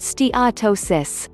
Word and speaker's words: steatosis: people with obesity have fatty liver in steatosis pronounced steatosis fat accumulates in the cells of the liver